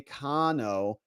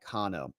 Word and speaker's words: Kano: Say Kano. Short A, long O to make it sound like Kano.